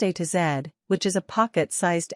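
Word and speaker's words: A–Z: the small or mini London a z pronounced a to zed which is a pocket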